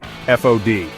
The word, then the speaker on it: FOD: foreign object debris fod pronounced like pod the Nemesis of Hardware design